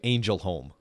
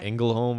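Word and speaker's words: Ängelholm: I'm not Swedish, so my best guess is phonetically it looks like Angel Home. But that can't be how it's said, because there's an umlaut over the A. So like Engelholm, or it's actually called Engelholm, but I think like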